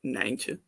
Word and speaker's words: Nijntje: Although we in Dutch he's called Nijntje, which is like the Dutch word for rabbit is konijn, and then like Nijntje is like a small rabbit. Nijntje. Okay. Like I used to have